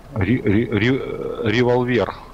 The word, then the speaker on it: Револьвер: Револьвер. Ударение на последнюю гласную.